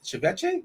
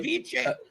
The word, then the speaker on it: ceviche: Uh, Kzone's got Philadelphia, Cleveland, Arizona, San Diego, and Chvetche. Am I am I pronouncing that correctly? Ceviche. You obviously had Ceviche before.